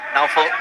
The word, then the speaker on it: Naufal: Full marks for your pronunciation of Naufal. That is exactly how it's said, and a lot of us get it wrong.